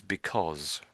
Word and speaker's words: because: this other word up, we sort of pronounce it slightly differently. So it's because. Cause. Because. All right. Yeah, yeah, that's it. Yes, because. So this cause at the end comes into like something like COZ, I suppose.